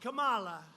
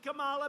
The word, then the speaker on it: Kamala: booker and you had kamala you know if you pronounce her name wrong she goes crazy come on like a comma it's like a comma